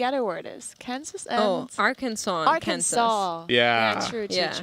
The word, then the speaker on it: Arkansas: Kansas and Arkansas and Arkansas.